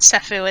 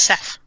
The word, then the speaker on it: Seth: It's not Sephu, it's Seth. Seth. She probably stole a pillow somewhere along the way, and she's carrying him palanquin style. It's so it's pronounced in the same way that Desu is pronounced. You Yes. don't pronounce the U at the end.